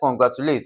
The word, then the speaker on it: congratulate: Okay, now to stress congratulate, we still stress it the same way. The third syllable from the end. Okay, so for congratulate, we have C O N. We have G R A. We have T U and we have L A T E. So, we have first syllable, second and third. Okay, so G R A is being stressed.